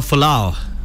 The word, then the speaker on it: Folau: Toks, I think the name you're looking for is Israel Folau. Folau is a guy. Sometimes for Afrikaans guys to pronounce a surname like that can be difficult.